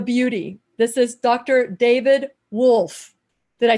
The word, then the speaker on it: Wolfe: this is dr david wolfe did i say it right judy and philip um and all of you who corrected it you know i'm spanish so i said woof you know so sue